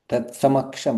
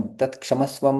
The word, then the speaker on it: तत्समक्षम्: तत्समक्षम, तत्क्षमस्वम नहीं, तत्समक्षम। तत्समक्षम्।